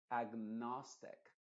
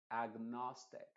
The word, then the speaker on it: agnostic: Entonces acá diríamos, por ejemplo, agnostic, agnostic. Entonces ahí, si tú te fijas, todavía pronunciamos con la ag.